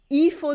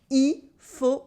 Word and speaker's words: il faut: Sometimes we don't cut the whole il, but at least we don't pronounce the L at the end of il. For instance, the last example can sound like il faut dormir maintenant.